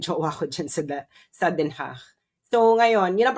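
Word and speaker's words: Den Haag: Maganda kasi yung bahay namin ng jowa ko diyan sa sa Denhach. So ngayon yun ang pronunciation na Denhach. So Denhach.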